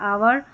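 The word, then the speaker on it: hour: H silent रहता है। Honest आवर और यहां पर एयर करके पढ़ेंगे।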